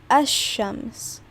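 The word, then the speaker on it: الشمس: brought up before right how you would pronounce it is ashams right you don't pronounce the lam in there because the first letter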